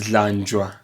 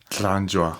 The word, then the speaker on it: Dlanjwa: Am I pronouncing the Dlanjwa part correctly, or is that a slip of tongue from my side? Yeah, it's Dlanjwa. Dlanjwa. Yes, that's perfect. That's a better one.